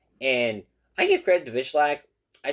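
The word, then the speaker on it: Wikłacz: Jacob Vishlak, I believe is how they were pronouncing it, defeats Patchy Mix via you split decision 22928 for Vishlak, 12928 for Mix.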